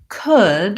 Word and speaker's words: could: that is to think about could has the same vowel sound as good and book it's this vowel here